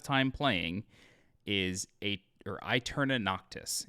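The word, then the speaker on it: Aeterna Noctis: a lot of time playing is a or I turn a noctis it's spelled a-e-t-e-r-n-a-n-o-c-t-i-s this is a 2d metroidvania on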